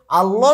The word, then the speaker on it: আল্লাহ: লাম হচ্ছে পাতলা। কিন্তু ব্যতিক্রম হচ্ছে আল্লাহ। এই আল্লাহ শব্দের মাঝখানের যে লামটি রয়েছে এই লামটি হচ্ছে আমাদের ব্যতিক্রম। যেমন এই লামটি এখানে আমরা আল্লাহ বলতে পারছি না। এখানে হবে আল্লাহ। অধনি দিবে। সাধারণ লামের ক্ষেত্রে আধ্বনি দিবে। কিন্তু আল্লাহ শব্দের লামের ক্ষেত্রে অধ্বনি দিবে।